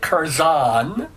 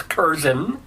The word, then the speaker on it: Curzon: been mispronouncing your name I've been pronouncing it keran and now you tell me because it's English somehow that it's Ken but what I want